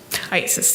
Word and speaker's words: IACIS: IASIS, yes. Can we call it ISIS? Yes. How do you say it? IASIS.